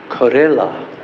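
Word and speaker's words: Karehla: you know the name corilla you should not have a a hard time cuz you like Corella although this is spelled slightly differently k a r e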